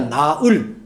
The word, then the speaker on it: 나을: 그럼 이걸 뭐라고 발음했냐? 나을.